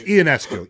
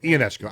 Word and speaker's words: Ionescu: If you didn't see this shot by Sabrina Ionescu, did I pronounce it? It's no, it's Ionescu. Ionescu.